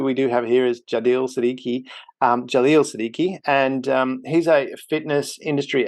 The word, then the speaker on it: Jaleel Siddiqui: So I was just making sure I got Jaleel's name pronounced correctly, which is Jaleel Siddiqui, who we have here on the show today.